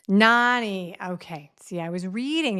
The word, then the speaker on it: Nani: So I think you call your mom Nane? Nani. Nani.